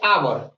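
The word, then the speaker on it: hour: पर देखिए यहां पर इसको हम हावर पढ़ेंगे हावर नहीं पढ़ेंगे इसको हम पढ़ेंगे आवर और आवर को इंग्लिश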